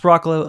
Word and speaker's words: Broccolo: And It I'm like, just broccoli, just with an O.